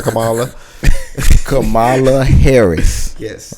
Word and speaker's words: Kamala: You said it right. Kamala. It was You Kamala, good? right? Yeah. I just want to make sure I got it right.